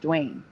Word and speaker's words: Dwain: It's spelled Dwain. It's pronounced Dwayne.